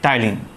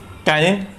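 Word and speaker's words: ptyalin: इसके बाद starch, digesting enzyme जिसका नाम है टाइलिन. यहाँ पर पी साइलेंट होगा. Okay टाइलिन.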